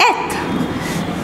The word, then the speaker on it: eth: इट is pronounced as एथ.